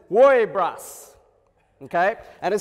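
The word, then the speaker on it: woiibrusss!: is very important all right and it said pronounced says worry brush okay and it sounds so weird but i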